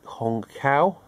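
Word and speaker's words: Hong Khaou: Directed by Hong Kao, that's how you pronounce it.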